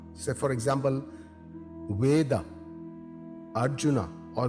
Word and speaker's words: Arjuna: pronounced as Krishna using the vowel R similarly Arjuna is pronounced with a a sound at the word